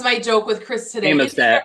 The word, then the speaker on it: Amistad: As an AVETT show, I would assume it's pronounced Amistad. Amistad. Yeah, the A's got to be long.